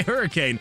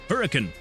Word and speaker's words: Hurricane: Uh, well, I say hurricane because that's how you would assume that that would be pronounced, right? Hurricane, but it's not. If you live in Utah, it's actually pronounced hurricane. Hurricane Utah.